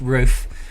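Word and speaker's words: Ruf: It is pronounced roof, thank you, and I know this because I met the man himself.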